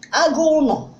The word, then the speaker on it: agulo: Some people say agulo, but this is how it been pronounced locally. Agulo.